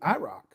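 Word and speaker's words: Irocc: out to the Chevys yes indeed I rock and it's spelled i-r-o-c-c yeah interesting I want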